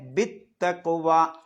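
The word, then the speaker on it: بالتقوى: Bill തഖ്വ എന്നാണ് എഴുതിയത്. പക്ഷെ നമ്മൾ ഓതുന്നത് ബിത്തഖ്വ.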